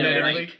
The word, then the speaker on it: Ehrenreich: I wrote down, like, Aaron, like the name Aaron, and then Aaron Reich, like, Third Reich.